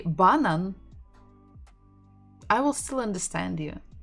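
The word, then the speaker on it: банан: with easy ones we're stressing the final syllable banan so let's figure out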